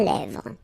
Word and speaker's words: lèvres: Un crayon à lèvres. Un rouge à lèvres. Same thing here, final S not pronounced, and then this E accent grave here, it gives you the E, really open sound.